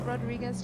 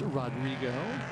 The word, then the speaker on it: Rodrigo: So is Rodriguez just managing it, do we think? Or So it's Rodrigo. Rodrigo, sorry. And his last name is Flucker.